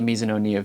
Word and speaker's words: Mizuno: now we're going to be talking about the misoo Vista and right off the bat I do